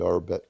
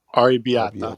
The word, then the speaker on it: arrabbiata: I recommend the arrabetta. How do you say it? Arrabetta, arrabetta, Arrabbiata.